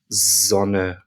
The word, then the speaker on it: Sonne: However, if a word starts with an S, it makes more of what we would pronounce as a Z. So, for example, the word for sun, as in the sun in the sky in German, is Sonne, Sonne, z, z, z, Sonne. So you can hear it's more of a Z rather than a S.